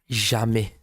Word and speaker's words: jamais: Jamais.